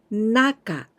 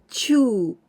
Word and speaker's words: 中: We can pronounce this kanji in kunyomi Naka, Naka, and onyomi Chuu or Jyuu.